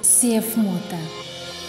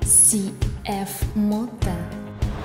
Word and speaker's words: CFMOTO: Вам нравится CFMOTO? Тогда давайте произносить его правильно. CFMOTO. CFMOTO. CFMOTO.